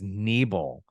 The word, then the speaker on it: Nebel: It's not Nubble, it's Nebel.